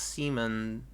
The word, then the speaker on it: Simon: uh I mean Simon from Gurren Lagan is pronounced Seaman but I see how you normally say the